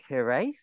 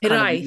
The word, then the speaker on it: hiraeth: And you have this Welsh term, which I'm going to mispronounce, because is it hiraeth? This hiraeth, kind of hiraeth. Beautiful term, hiraeth.